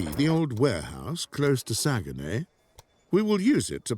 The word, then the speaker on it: Saguenay: Can you see the old warehouse close to Saguenay?